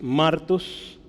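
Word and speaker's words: μάρτυς: le va a poner Cómo se pronuncia hay un acento en la a Entonces es martos y esto significa testigo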